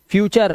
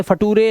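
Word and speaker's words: future: last में यू आर है कल्चर अर से पढ़ना है फ्यूचर अब इसे फटूरे लटूरे नटूरे है ना या फिर लैक्टूरे ऐसा नहीं पढ़ना है रूल्स हैं रूल्स समझने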